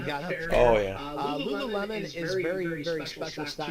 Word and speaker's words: Lululemon: and is the Lululemon, or how do you pronounce it? Lululemon.